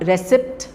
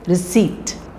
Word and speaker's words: receipt: pneumatic psychology pseudonym okay and receip it's not reip it is receipt to Castle hustle listen